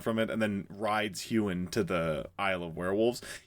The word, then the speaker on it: Huan: Is it Huan? Huan.